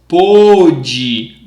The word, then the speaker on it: pôde: But the past is pôde.